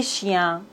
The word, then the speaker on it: chiens: On ne prononce pas le S et le X pluriel. Nous, vous, il pour les pronoms personnels. Un chien, des chiens. Un téléphone, des téléphones. On ne doit pas prononcer le S pluriel.